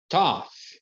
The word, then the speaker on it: tough: a gente vai abordar primeiro quando ele tem som de f por exemplo temos aqui tough tough tough tough é